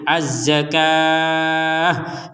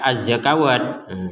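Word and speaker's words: الزكاة: wa aqimus shata wauzzak nah ini juga sama azzakatah di atasnya wau bukan bukan harakat tapi Alif kecil jadi Bacanya azzak jangan dibaca azzakawatah seperti itu kemudian kita membaca di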